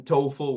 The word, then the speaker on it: TOEFL: tol my friends again I put here the International Phonetic Alphabet pronunciation tofl with that long o standardized English test that